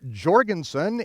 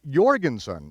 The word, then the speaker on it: Jorgensen: And even today, over in Europe, you don't speak of Mr. Jorgensen, it is Mr. Jorgensen, even though it's spelled with a J.